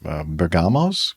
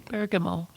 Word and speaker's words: Bergamo: crew landed on Burggamos. Bamo. How do you pronounce that? Burggamo. Bergamo.